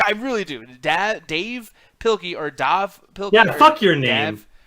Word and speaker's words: Dav: brian ryan explained it it's pronounced yeah it's pronounced dave he just removes the e for uh for his books but like why did